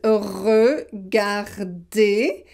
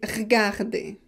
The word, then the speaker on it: regarder: So this kind of E is often suppressed, so not pronounced when we speak. For example, this word, it is regarder. Well, sometimes we don't pronounce the E and we say regarder. Hey, regardez! Il y a quelque chose de bizarre ici. Hey, regardez! Hey, look! Regardez. Venir, venir. Samedi, samedi, samedi. So you have 2 ways to pronounce it, with the E or without the E.